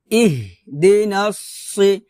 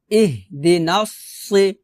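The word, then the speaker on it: اهدنا الصراط: দি নাসি, নাসি, সি, সদটা মোটা হবে, ইহ দি নাসি, নাস, নাসি, সি, নাসি, একটা হচ্ছে ইহ দি নাসি, তো ইহ দি নাসি বললে কিন্তু আমি সিনের উচ্চারণ করতেছি, সদের উচ্চারণ কিন্তু এখানে করতেছি না, তো এটা কিন্তু সিন না, এটা হচ্ছে সদ, তো সদটাকে একটু মোটা করতে হবে, ইহ দি নাসি, এভাবে।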